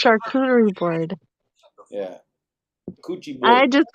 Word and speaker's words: charcuterie: name of French origin and the French is pronounced you could do it's charcuterie bride I just call it a kudakuda board